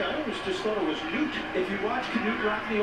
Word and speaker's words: Knute: Did you have a different pronunciation than I always just thought it was Newt. If you watch Knute Rockne All-American, they go with Knute.